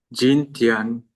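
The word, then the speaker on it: 今天: Jin, Jintian, Pakai C, Rival. J-nya dibaca C. Jintian, Ian dibacanya jadi Ien.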